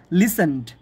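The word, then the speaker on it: listened: সেটা হলো ইফ ইউ হ্যাড লিসেন্ড টু মি, বানান মনে রাখার জন্য লিসেন্ড বললাম, বাট এটার উচ্চারণ হলো লিসেন্ড।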